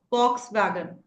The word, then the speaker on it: Volkswagen: So, V is not B. It's P. Fox wagon, right? Because it's German. Yes, because it is German. German word.